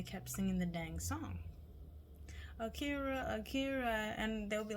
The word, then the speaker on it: Akira: it's Gonna Come so my name is Akira Akira a-k-i-r-a just like the anime uh and sometimes Some Humans can't pronounce that so I always say it's like Shakira without the sh and they're like I